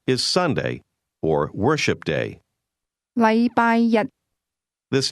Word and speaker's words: 禮拜日: The difference is that the word one used with Monday is pronounced with a high level tone, while the word day is pronounced with a low level tone.